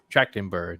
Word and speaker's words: Trachtenberg: How do you pronounce his last name? Trachtenberg.